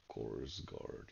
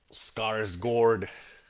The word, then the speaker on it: Skarsgård: So, oh, that was Scores Guard, yes. Oh, yeah, Scars Guard, not Scores Guard.